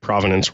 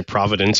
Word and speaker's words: provenance: magic provenance word um I've heard him pronounced a bunch of different ways including like a common uh misconception there people say Providence a lot which is you know a city in Rhode Island near where I live